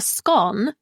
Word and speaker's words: scone: "Math was never my subject, but I won't turn down a scone." Fletcher used one of the more proper British pronunciations, which sounded more like gone, as he grabbed one from the plate.